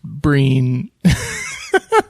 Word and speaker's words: Brian: The other guy, Brian Gleeson. Uh-huh. It says his name is pronounced Breen.